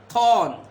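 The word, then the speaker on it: thorn: थॉर्न आर is silent.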